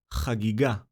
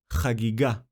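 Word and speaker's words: חגיגה: The word is pronounced Chagiga. Chagiga.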